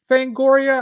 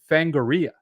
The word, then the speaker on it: Fangoria: Is it Fangoria? I was interacting with the guy on Blue Sky, and he pronounced it Fangoria. I've always pronounced it Fangoria.